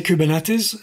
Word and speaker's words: Kubernetes: hell you call it how do you pronounce that by the way I say kubernetes and I think it's it's a Greek word it means the steering of the steersman the rota system ok that sounds good